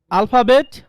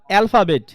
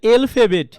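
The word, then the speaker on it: alphabet: এটা দুইটা প্রোনাউন্সিয়েশন আছে, আলফাবেট অথবা অ্যালফাবেট, বাট আপনারা যেটা বলেন এলফাবেট, এলফাবেট না, এ বলতে কোনো কথা নাই।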